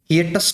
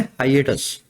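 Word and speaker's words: hiatus: है अपने पास हाइएटस पहले इसको बोलना सीखो हिटस कुछ ऐसा मत बोलना इसका नाम क्या है इस वर्ड का प्रोनाउंसिएशन है हाइएटस हाइएटस पता है क्या होता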